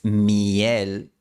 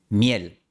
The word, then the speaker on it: miel: No es miel, sino miel, en una sola sílaba, con una semivocal ya como la Y de yes.